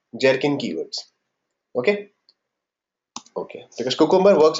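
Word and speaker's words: Gherkin: are called Jerin keywords GH e r k i n okay how to pronounce Jerin not gin it's jerkin okay this is like this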